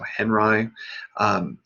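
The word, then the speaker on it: Henri: uh led by robert henry asked people to pronounce the name to rhyme with buckeye so henry there were of course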